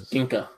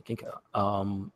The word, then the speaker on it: Ginga: So they pronounce it Ginga or Jenga? It's Ginka. Gotcha. Ginka.